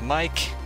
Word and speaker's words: MYKe: is up Underdog LS my name is Mike is how you pronounce my YouTube name mike1 1217 and I'm